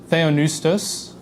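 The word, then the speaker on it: θεόπνευστος: Theonoustos is how you say this.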